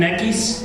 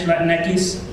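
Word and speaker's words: Latinx: Latin X terms actually I I pronounce it Latin latinis that's the way you say it in Spanish latinis and I like that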